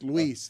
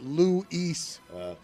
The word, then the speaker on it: Luis: Uh, but how do you feel about how he says No, it's Luis. The way the way that you make it two two syllables. The way that you make it Louise.